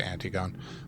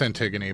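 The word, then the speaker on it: Antigone: to uh and I'm going to say antiggon. I know it's Antiggony, but it it throws me off every time.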